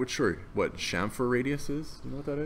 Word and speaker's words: chamfer: Am I saying it right, chamfer?